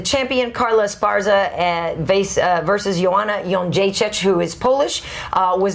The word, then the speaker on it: Jędrzejczyk: co-main event, the champion Carla Esparza versus Joanna Jędrzejczyk, who is Polish, was not on The Ultimate Fighter.